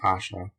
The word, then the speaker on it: Ayesha: he may add that the name asha which since the days of the prophet muhammed who had a wife so-called and perhaps before them has been common in the east should be pronounced asha introduction verily and indeed